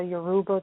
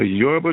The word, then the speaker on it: Yoruba: little bit about the Yoruba tradition the Yerba tradition bahaha yeah the use pronounced but is so fast you just don't cuz it it is yorba hold on you know